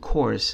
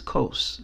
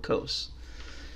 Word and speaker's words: Coase: And Ronald, by the way, your book had his name wrong. It isn't Coase. His last name is Coase, Ronald Coase.